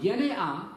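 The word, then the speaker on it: γενεά: Yene'ah is the word. It doesn't mean race. That's yenos. Just spell that. Doesn't race. Genea.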